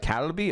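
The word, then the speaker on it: 갈비: Kalbi, it's more like Kalbi.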